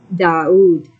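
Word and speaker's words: דוד: The Hebrew letters Dalet U Dalet will be transliterated DAUD to suggest the pronunciation DAUD.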